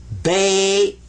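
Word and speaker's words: بيت: This gets a sukoon. What's a sukoon? Sukoon means don't pronounce it, but give it some value anyway. This is bait.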